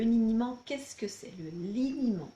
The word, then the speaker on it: liniment: Le liniment, parce qu'il y a certaines personnes qui prononcent niniment. Donc, le liniment avec un L, si vous êtes papa ou maman, vous savez très probablement ce que c'est.